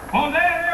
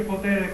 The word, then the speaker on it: potere: dei Lavoratori dello spettacolo Podere operaio Podere operaio Podere operaio Scusi signore ma non si dice potere con la si dice potere con la t perché non lo so